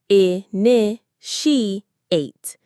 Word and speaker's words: initiate: I n she ate. I n she ate. Notice where the stress is. It's on the second syllable. I n she ate.